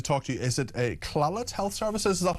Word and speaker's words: Clalit: Is it Clalit Health Services? Is that how you pronounce it? Clalit. Clalit.